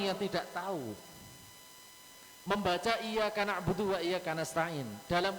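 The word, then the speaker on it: إِيَّاكَ: Hai apa orang yang tidak tahu Hai membaca iyyaka na'budu wa iyyaka nasta'in dalam kondisi kesalah membacanya biasa ia karena abu tua iyyaka nasta'in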